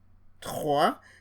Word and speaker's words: trois: You see the transcription trois. The S here is not pronounced.